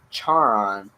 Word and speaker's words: Charon: It's not Sharon. It's Charon. It's the name of a gosh darn moon, and it's pronounced slightly differently.